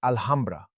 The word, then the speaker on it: Alhambra: When Spaniards learn to say it, they'll pronounce it Alhambra.